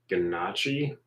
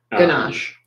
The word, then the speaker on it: ganache: Ganachi. Gachi. No, I'm not saying that right. I can't remember how to say it though. Ganache.